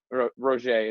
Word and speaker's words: Roger: named roger of mine roger is really how you pronounce his name he's french canadian and he would he